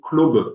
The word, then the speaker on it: club: encore à ce moment-là qu'il faut le prononcer clobe en écrivant ça C L O B parce qu'en fait on sait pas trop.